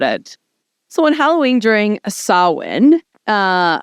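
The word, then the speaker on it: Samhain: so in Halloween during sawin uh it's hard to say sawin I know because it's spelled Sam Hae yeah and like that's how some people say it Sam ha um so during a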